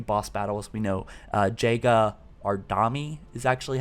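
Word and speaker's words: Jega 'Rdomnai: seen a few boss battles we know uh jega ardami is actually how you pronounce it i guess that's how the weapon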